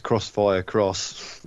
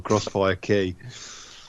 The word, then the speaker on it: Crossfire X: Whereas the X is actually pronounced either cross or key. Yeah. So it's Crossfire Cross or Crossfire Key.